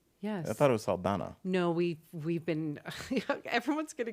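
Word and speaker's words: Saldaña: Zoe Saldana's was really powerful. Is that her name? Yes. I thought it was Saldana.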